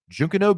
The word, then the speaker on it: Junkanoo: It's spelled Junkanoo. Looks like Junkanoo, but it's Junkanoo Beach.